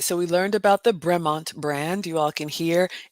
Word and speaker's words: Bremont: All right, so I would say this is a Bremont, but how do you pronounce this? Bremont. Bremont.